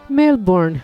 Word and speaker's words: Melbourne: male born pronounced Melbourne is the second most populous city in